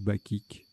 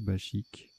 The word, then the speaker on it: bachique: champ gauche chasuble branchu bachique ou bakic à je ne sais plus c'est pas précisé donc ça doit se prononcer bachique alors voilà trébucha tirage